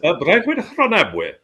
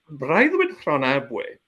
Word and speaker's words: Breuddwyd Rhonabwy: heard much of this next one you mentioned, Breuddwyd Rhonabwy. Is that how you pronounce it? Breuddwyd Rhonabwy, yes. Well, Breuddwyd Rhonabwy, again, another Welsh scholar, Brynley Roberts, who was